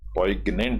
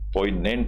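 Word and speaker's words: poignant: है एज ए पोनेंट इसमें जी silent होता है दोस्तों पगनेंट नहीं बोलते हैं पोनेंट बोलते हैं इसको एज ए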